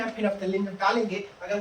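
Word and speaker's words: phenolphthalein: फिनोप्थलीन लिखते हैं, फिनो ऐसे पढ़ते तो लिखते तो एल भी है, साइलेंट है, फिनोप्थलीन ऐसे याद रखिएगा, एक्चुअली याद है बच्चे से नहीं लगेगा, ठीक है।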